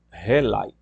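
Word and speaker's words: ὕλη: OK a matéria do na palavra grega é rile pronunciado relai né é eh é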